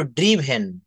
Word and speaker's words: driven: ইয়েস, ড্রাইভেন না, এটা উচ্চারণ করব ড্রিভেন।